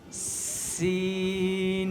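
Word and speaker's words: سين: এটার নাম কি বলা এটাও শক্ত করে উচ্চারণ করতে হবে সিন সিন তাহলে সিনের উচ্চারণ শক্ত হবে কেমন সিন সিন সিন সিন এরপরে দেখো সিনের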